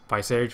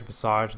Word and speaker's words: Visage: Visage, Visage, doesn't matter. I've heard it pronounced both ways.